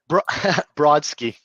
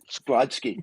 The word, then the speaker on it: Brodsky: Brodsky. Yep. Brodsky.